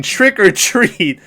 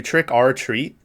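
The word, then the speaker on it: Trick 'r Treat: say america for years i always pronounce that movie trick r treat um because i thought that was how it's pronounced but it is just trick or treat it's not trick or treat it's just trick or treat so i've been pronouncing that movie wrong all along i watched it uh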